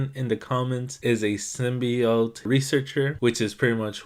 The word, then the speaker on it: symbiote: The proper pronunciation for this is symbiote, not symbiote.